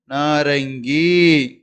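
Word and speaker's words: नारंगी: அப்படிங்கும்போது நா ர கீ, நாரங்கி அப்படின்னு படிக்கணும். இதை நா ர கீ, நாரகி அப்படின்னு படிக்கக்கூடாது. இது ராங், தப்பான விஷயம். நா ர கீ, நாரங்கி அப்படின்னு நீங்க உச்சரிக்கணும்.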